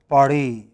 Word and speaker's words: Paris: In French, it is always the last syllable. So, they pronounced Paris. Okay? They always in English, sorry, in French, they pronounce it as Francais. They pronounce it as Francais. Okay? It is always the final syllable, no exception.